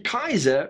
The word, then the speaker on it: Kizer: have here is the kaiser raja raja as in an indian monarch kaiser as in a german emperor i know i know it's spelt differently never mind that so